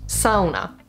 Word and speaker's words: sauna: So you've probably heard the next word, sauna, correctly pronounced sauna. Sauna. It's not even pronounced that way.